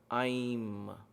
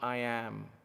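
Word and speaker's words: ऐं: Aim, not I am. Aim. So there is A-I-M, Aim, or I-I-M if you want to say. I put it in English because that's how it is there in the international Sanskrit transliteration, if you will. But the pronunciation is Aim. There is an I, you press that with the tongue.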